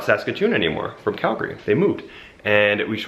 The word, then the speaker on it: Calgary: find that so ugly a lot of other Canadians will say Calgary like like almost like the name Gary and then Calgary but we say Calgary like that's how it's